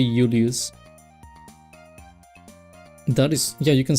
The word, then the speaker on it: Julius: The J you pronounce it as Ulus. You don't say Julius, you say Ulus.